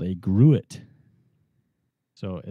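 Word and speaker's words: Gruit: it it's called a grew it so it looks like the word fruit but with a G but I asked the brewer there and he actually he said that it's actually pronounced grew it so it's a grew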